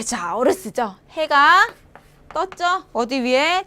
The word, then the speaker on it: 早: 자오 발음이 자오, 이르다 자오, 늦다는 완, 일찍은 자오, 늦다는 완, 빠르다 자오 하시면 돼요.